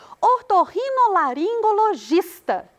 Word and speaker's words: otorrinolaringologista: Otorrinolaringologista. O gis é a sílaba tônica. Penúltima sílaba também.